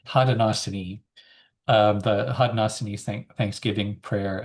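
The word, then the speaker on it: Haudenosaunee: Hadosini. Hadenosini.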